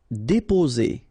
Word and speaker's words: déposer: Déposer. Okay, only one S between two vowels, so the sound is Z.